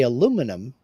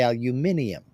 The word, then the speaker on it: aluminium: Where we say aluminum and the Brits say aluminium. So do the Aussies, so do the Kiwis.